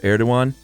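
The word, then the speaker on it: Erdoğan: And when we weren't sure how to pronounce it, and our video producer ninja Casey said, "Oh, Erdogan, fascist."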